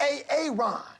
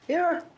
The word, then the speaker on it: Aaron: A Aon. Aaron.